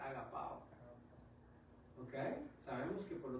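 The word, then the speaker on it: ἀγαπάω: Y así se eletrea y se pronuncia agapao.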